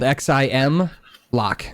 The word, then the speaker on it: Ximlock: It's spelled Xim Lock.